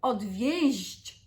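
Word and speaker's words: odwieźć: is dissuading someone, and the one that's a little bit harsher in its pronunciation in the infinitive, odwieść, is the one that means to drop off someone, okay?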